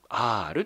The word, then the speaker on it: アール: これね書いてあと読みます R と読みますこれ